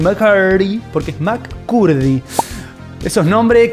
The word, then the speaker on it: McCurdy: Sí, así se pronuncia, McCurdy, porque es McCurdy.